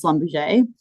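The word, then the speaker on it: Schlumberger: That company is Slumberge, which I can now pronounce and they're now known as SLB.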